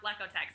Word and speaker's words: Lekotec: great little slogan to teach people that it's pronounced lekotec so thank you for using that uh no